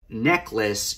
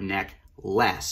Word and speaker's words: neckless: Now, necklace in this case is neck, as in the body part, neck, less, as in L-E-S-S.